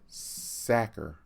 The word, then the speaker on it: Sachar: pronouncing his name wrong it should be said Zakhar like someone who tackles quarterbacks and stuffed potatoes in the sacks mr. sacker who was a lawyer